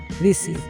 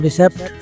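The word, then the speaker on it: receipt: है वो है रिसी जिसको हम रिसेप्ट समझते हैं और हम में से अक्सर जो है इसको रिसेप्ट पढ़ते हैं जबक यह पढ़ना गलत है तो ये है ट ट आइए दे इसको इसकी दुरुस्त अदायगी जो है व ब्रिटिश एक्सेंट में किस तरह से ट ट ट तो आपने यह जाना इसको हम सेप्ट नहीं पढ़ेंगे इसको पढ़ेंगे रिट रिट इसका दुरुस्त तलफ है व रिसी जैसे हम उर्दू में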